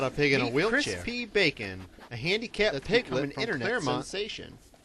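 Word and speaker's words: Chris P. Bacon: I believe it's pronounced crisp bacon no no no you are mistaken I'm mistaken crispy bacon crispy bacon crispy bacon a bit like the meat but of course here's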